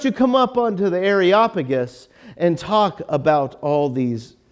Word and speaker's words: Areopagus: and they bring him up to areopagus now areopagus by the way Diane good job on the pronunciation she practiced for days like that's the